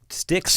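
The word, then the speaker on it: Styx: old no no no ST YX St y yeah like the river sticks in Hell Paradise Theater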